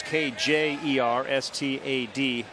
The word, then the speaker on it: Kjerstad: So the spelling of Kjerstad's last name, it's Kjerstad. Dave Van Horn often calls him Silent J, because the J is silent in the last name.